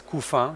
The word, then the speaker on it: Couffin: Please don't pronounce my name in English. Couffin sounds bad. It's Couffin if you want to pronounce it properly.